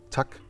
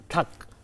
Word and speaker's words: tak: how to say thank you in Denmark? Tuck. Tak. Tuck.